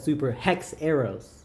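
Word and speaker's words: Super HxEros: On the show, they call it Super Hex Arrows. That's how they say it?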